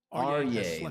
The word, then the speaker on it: Arye: Arye, that's how you pronounce his name.